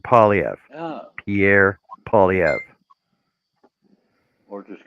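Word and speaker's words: Poilievre: Pronounce it Polyev.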